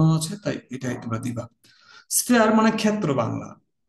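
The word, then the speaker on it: sphere: জীবনের many life, many স্ফেয়ার্স ইন my life. আমার জীবনের নানা ক্ষেত্রে, এটা আসলে এইভাবে আমরা শুনে থাকি আমরা, যদিও স্ফেয়ার উচ্চারণটা কি স্ফেয়ার, SPHER, স্ফেয়ার।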